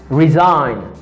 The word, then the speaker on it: resign: Resign.